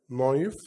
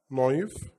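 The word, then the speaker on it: knife: بيقول ان الكي لما بيجي بعدها الان، الكي هنا سايلنت مش بننطقها، الكي لما يجي بعدها الان يبقى الكي ايه؟ سايلنت. الكلام ده طبعا زي الاكزامبلز اللي قدامنا هننطقها مع بعض.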